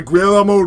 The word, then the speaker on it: Guillermo: Directed by Guillermo del Toro. How do you say his name? It's Guillermo.